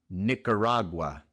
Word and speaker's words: Nicaragua: Nicaragua se pronuncia Nicaragua. Nicaragua. La i otra vez es una i corta. I no es ni, sino ni ni Nicaragua. La A entre la C y la R se ignora.